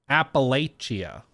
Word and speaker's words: Appalachia: Appalachia. You got to say it like you got molasses pouring out of your mouth. Appalachia. That's how you got to do it.